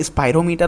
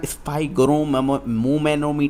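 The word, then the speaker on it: spirometer: ठीक है, इसके बाद बात करते हैं यहाँ पर स्पायरोमीटर होता है, याद रखना, स्पाइरोमोमीटर नहीं है, इट इज़ अ स्पायरोमीटर।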